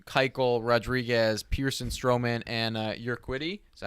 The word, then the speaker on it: Urquidy: of Morton, Corbin, Keuchel, Rodriguez, Pearson, Stroman, and Urquidy. Is that how you say it? Urquidy, yeah.